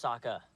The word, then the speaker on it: Sokka: My name's Sokka. Rhymes with Akka and Waka Waka.